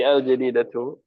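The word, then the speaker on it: الجديدةُ: Tidak pakai tanwin. Berarti al-jadidatu. Apa al-jadidatu? Al-jadidatu. Baru. Baru. Tapi untuk ini muannas. Iya, jadi bacanya al-jadidatu. Jangan pakai tanwin ya. Karena ada al.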